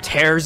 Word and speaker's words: Tears: okay we have talked guy who pronounces tears of the Kingdom's name like Tara is the word for rip tears of the Kingdom let's